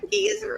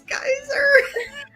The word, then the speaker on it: geyser: I'm like, it's not geezer, it's geyser.